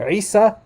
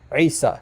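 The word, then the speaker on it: عيسى: Isa Isa not Isa listen carefully to to the pronunciation it it would have to be now this would be Isa Isa and and it's not listen to that to that gutural at the beginning that's very important and that's a huge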